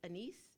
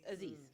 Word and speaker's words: Aziz: So when I think about the situation with Anis, is that how you say his name? The guy from Parks and Rec. Oh, Aziz.